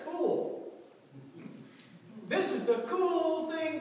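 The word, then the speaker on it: kuwl: That very word in the Hebrew, it's spelled out K-U-W-L. But if you were to try to pronounce it in the pronunciation key, it gives this. It's the word cool.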